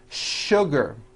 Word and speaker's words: sugar: in English that are written with the letter s but are pronounced with the sh sound words like sugar and sure and to